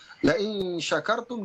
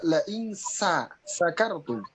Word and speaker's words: syakartum: La in syakartum dibaca la in sakartum. Kalau la in syakartum jika kamu bersyukur, ya. Tetapi jika membacanya la in sakartum itu artinya mabok. Wah, ini bahaya, jauh sekali.